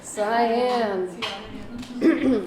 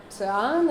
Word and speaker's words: cyan: Cyan. It's not cyan, it's not anything. Well, you really won't need to use like English-speaking printers, but still good to know that it's cyan.